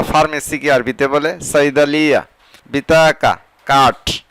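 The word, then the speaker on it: بطاقة: বিতাকা card বা ID card বা payment card আবার এভাবে বলে বিতাগা। বিশেষ করে আরবিরা কয়ের উচ্চারণকে গ উচ্চারণ করে, এখানে আছে বিতাকা আর গ উচ্চারণ করলে হবে বিতাগা, কার্ড বা পেমেন্ট কার্ড।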